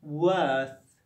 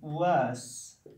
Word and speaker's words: worth: The same for worth, worth. We can't pronounce it as worse. Worth, worth, not worse.